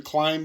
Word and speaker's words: climb: And I just like to point out that there's a silent B on the end of climb. And that always bothers me. Silent B. I mean, I really can't linguistically justify a silent B under any other language.